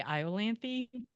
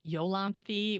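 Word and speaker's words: Iolanthe: to be fair like I always say iany because of the Gilbert and Sullivan Operetta that was written about her but I had an interviewer pronounce it yolan which I think is probably more correct so now I'm making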